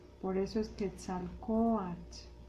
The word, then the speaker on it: Quetzalcóatl: Por eso es mexica, por eso es Teotihuacán, por eso es Quetzalcóatl, Anáhuac. Todas las palabras en náhuatl son graves, el acento va en la penúltima sílaba.